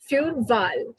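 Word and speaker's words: Wal: screen foul next is w w val the whale this is the whale as you can see w is v in german v like initially we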